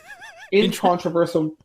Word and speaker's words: incontrovertible: Incontrovertible evidence of his crime. He just inserted an S. Like, that's supposed to be incontrovertible.